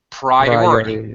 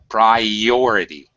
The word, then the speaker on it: priority: Priority. Same thing there. Priority. Okay. There's another a Y sound in the middle. Priority.